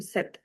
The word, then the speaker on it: cet: And the pronunciation of this and this is the same, set. This is sir and this is say.